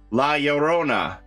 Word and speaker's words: La Llorona: next we have ah la llorona i believe that's how you say it the double l is a y sound in spanish right la llorona my uh grandfather would always